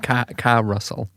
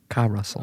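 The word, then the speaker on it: Karusell: with the song Carousel, which is spelled like Russell with a K-A at the start, but it's pronounced like Carousel for reasons that will be apparent It's soon. spelled like Russell. Russell, but Ka-Russell.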